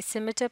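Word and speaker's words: scimitar: ये लफ्ज़ जो है इसमें लेटर सी साइलेंट है, इसे सिमिटर पढ़ा जाता है, इससे मुराद है एक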